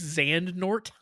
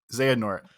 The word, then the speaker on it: Xehanort: Did you say his name was Xandnort? Xehanort.